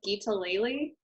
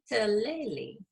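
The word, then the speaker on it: guitalele: And then I am starting to teach myself Geetaleli, which is the thing I held up earlier.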